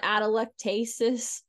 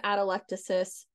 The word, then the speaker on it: atelectasis: And remember, if you see the word atelectasis, that is how you pronounce this word. I used to call it atelectasis. I've heard lots of fun pronunciations of this word. It is atelectasis. That is the official pronunciation.